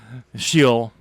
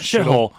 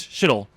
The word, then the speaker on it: Sheol: You get tortured, hung up on a cross, didn't have to go down to Sheol. That's how you pronounce it. It's not shithole, but it's Sheol.